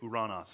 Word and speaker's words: Uranus: son of the god Uranos, or if you you may pronounce it Uranus or Uranus. You may not like either of those. If you want to use the Greek pronunciation, just say Uranos.